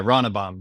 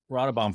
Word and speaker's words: Ronnebaum: So this is Ronnebaum. Am I saying it right? Yeah, Ronnebaum, definitely. Ronnebaum.